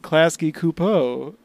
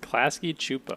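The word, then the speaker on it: Klasky Csupo: think of, I was like, oh, I am Klasky Kupo. The creator of it's pronounced Klasky Chupo.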